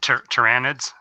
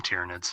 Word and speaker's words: Tyranids: There's some people call them Tyrannids. Some people call them Tyrannids, and others call them Tyranids.